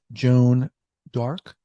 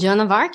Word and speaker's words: Joan of Arc: Joan D'Arc. Did I pronounce that correctly? St. Joan of Arc, you got it. We throw a fancy D in there every now and then.